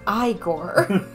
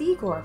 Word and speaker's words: Igor: It's pronounced Igor. They told me it was Igor.